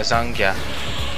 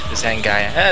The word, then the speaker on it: Zangya: Oh, it looks like there's someone in the audience yelling, saying that it's pronounced Zangya. Not Zangya. Yeah, Zangya. Not Zangaya.